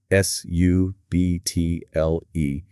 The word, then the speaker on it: subtle: S-U-B-T-L-E. Notice that the letter B is silent.